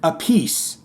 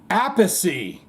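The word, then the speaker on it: Appice: Appleseed's name of YouTube he pronounces it a piece while his brother Vinnie pronounces it apacy this came about while Carmine was performing with Rod Stewart shrug's shoulders so we're both right so I can tell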